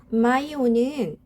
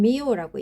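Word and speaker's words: myo: 마이오는 근육을 뜻합니다. 머슬 또는 머슬 티슈를 뜻하는 근육 조직을 뜻하는 어근입니다. 마이오 또는 미오라고 읽기도 합니다.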